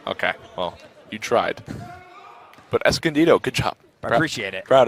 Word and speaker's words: Escondido: though for Quyen Singh good job on that pronunciation Escondido you got that one really good was the